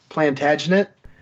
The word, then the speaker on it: Plantagenet: Edward Longshanks was, and I always screw up how you pronounce this, but it's Plantagenet.